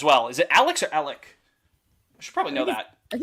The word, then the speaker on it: Alek: Is it Alex or Alec? I should probably know that. I think it's Alec with a K, right? Alec. Yeah, that's what I thought. Yeah, like Alec.